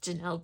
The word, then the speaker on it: Janelle: So Janelle, I love your name. Janelle, Janell. It's spelled different, but it still sounds the same.